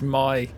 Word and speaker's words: Mai: And I kept calling her little me as well. I didn't know it was pronounced my like literally. I thought it was going to be me or something like that, but it is my.